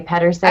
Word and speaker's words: Pedersen: Some people say Pedersen. I said Pedersen. I'm sorry. Either. I know. Everyone says one or the other, and I'm like, whatever, it's fine either way.